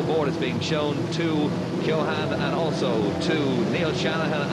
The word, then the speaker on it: Shanahan: It's Shanhan, of course, is how you pronounce his name correctly.